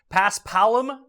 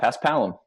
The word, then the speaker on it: Paspalum: what does it have you how do I pronounce this it's Paspalum greens is that right you got it yeah Paspalum yeah they're super slow they are slow and